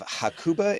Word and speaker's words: Hakuba: Today's guest is Chris Balm, like lip balm, uh leader, author, and speaker, and founder of Hakuba International School. Did I say that right? Yes. Cool. I yeah, pronouncing Japanese is super easy.